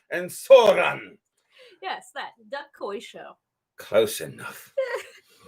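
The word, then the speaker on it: ソーラン: And the other one is Soran. Soran. You gotta say it like that too. Soran. Not Sauron. Not Sauron. Different guy.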